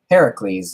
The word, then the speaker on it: Heracles: Hercules far as it's properly pronounced Heracles in the Greek Hera please being gift